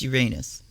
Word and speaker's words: Uranus: And no, I'm not one of the ones that changed the way I pronounce Uranus because we're all 11 years old. It's Uranus.